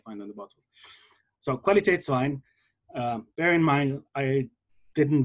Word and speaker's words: Qualitätswein: on top, but yeah, there would be two dots on the top of the A over here, which makes it pronounced as Qualitätswein, not Qualitätswein.